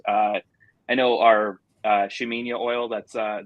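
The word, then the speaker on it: Ximenia: I know our uh shaminia oil that's uh the one with an X um but it is pronounced sheminia um that one has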